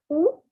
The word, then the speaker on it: où: Où habites-tu? Now I'll break it down. The first word is où, like the owl does oo, that oo.